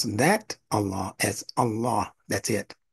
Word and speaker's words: Allah: pronounce that Allah as Allah that's it Allah so listen to the subtle difference Allah and Allah one has what is called a dagger Alf which elongates The Vow by two beats those